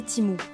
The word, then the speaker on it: Temu: Temu prononcé Timou a été lancé à l'automne 2022 aux États-Unis par le groupe PIN Duo Duo, un géant de l'e-commerce en Chine.